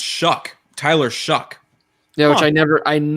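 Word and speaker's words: Shough: the oregon media guide it says shuck s-h-u-c-k as the pronunciation shucks pocket that for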